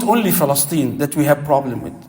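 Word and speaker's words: فلسطين: By the way, Palestine, the right pronunciation, we all make this mistake. بكسر الفاء وفتح اللام. You say Palestine.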